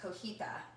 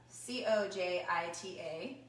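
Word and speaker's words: cotija: Or there's another cheese, and it's I believe it's pronounced cojita. C-O-J-I-T-A. So cojita.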